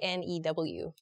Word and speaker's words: knew: say for interesting so how do you pronounce k n e w k n e w yeah I think I say new as well but I I've heard